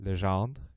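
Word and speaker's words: Legendre: So then nearly a century later, two researchers, and I'm going to try to bust out my Canadian heritage here and pronounce this correctly, Adrienne Marie Lejand and Carl Frederick Gaus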